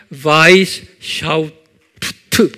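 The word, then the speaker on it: Weishaupt: 이 그룹을 만든 분이 아담, 이게 독일 이름이기 때문에 W는 V 발음하죠. 그래서 아담 바이스 샤우프트 그래요.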